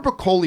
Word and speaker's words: Broccoli: Anyway, and I've always said Barbara Broccoli, but apparently it is actually pronounced broccoli.